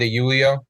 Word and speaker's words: De Julio: It's actually pronounc It's actually pronounced Dulio.